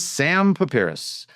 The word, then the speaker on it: Sam Pipras: Did I pronounce that right? Yeah. Very nice. Today's guest is Sam Pipras, a proven leader shaped by competition, discipline, and the relentless pursuit of growth.